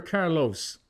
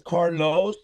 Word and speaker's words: Carlo: Is it pronounced Carlo or Carlos? Okay. So, um, my real name is Carlos, but my stage name is Carlo.